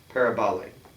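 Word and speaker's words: παραβολή: It should be a short o parabal.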